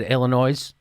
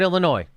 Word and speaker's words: Illinois: from my home State Illinois you're not supposed to pronounce the s this is uh from